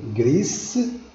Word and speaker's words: gris: Vous voyez la différence, la prononciation en espagnol gris avec s ou en français grise.